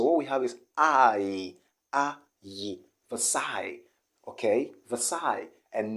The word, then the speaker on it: Versailles: the psy okay and the s here isn't pronounced do you understand okay so it's gonna be the side so you can see any at the end so what we have is okay versailles and not the cells